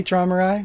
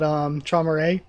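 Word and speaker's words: Traumerei: I need to say Traumare, not Traumare. I'm just so used to like Japanese Ray pronunciation versus Rai.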